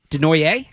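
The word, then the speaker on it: Desnoyers: Caleb Denoyer? Denoyer is how I'm pronouncing it. I've heard Denoyer, but I think it's Denoyer.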